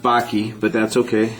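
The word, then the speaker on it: Bakke: that you talk about by the way it's pronounced Baki but that's okay not a big deal um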